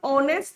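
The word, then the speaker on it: honest: अब ऑनेस्ट में तो पहला जो लेटर है वो एच दे रखा है। जबकि एच तो कंसोनेंट होता है। But when we pronounce this word तो क्या निकलेगा? ऑनेस्ट निकलता है यहां पर। क्या साउंड निकलती है? अ और अ जो होता है वो वोवेल होता है।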